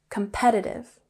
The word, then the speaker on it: competitive: We have the emphasis here on the second syllable, competitive. Good.